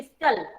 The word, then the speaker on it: whistle: So whistle में T silent है. अब उसको बोलना चाहिए whistle. But I am not speaking that whistle. I am not telling it whistle. Why? Because T is silent.